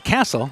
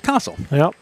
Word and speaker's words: Castle: We were thinking the way it's spelled, it's Castle, but it's Castle. Yep, we were corrected on that.